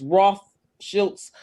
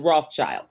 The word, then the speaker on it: Rothschild: called roth there it's the pronunciation is roth schultz but we call it rothschilds okay thanks okay them